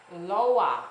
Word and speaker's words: loa: I'm used to it being pronounced Loa, L-O-A. I mean, well, the reading L-O-A, but it looked exactly like an I, a W, and an A.